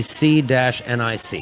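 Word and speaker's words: CNIC: Or- It'll be C-NIC. I'm sorry. Okay. C-NIC. Yes. Got it. Okay. Nick. Yeah, got it. C-nic.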